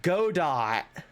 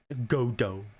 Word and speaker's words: Godot: yeah i'm pretty sure it's godot godoh i know it's godot it's good it's like waiting for for godot i know i know